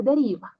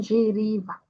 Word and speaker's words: deriva: Então, como é no início, só vai ser deriva. Não, não giriva, tá? Deriva, só deriva.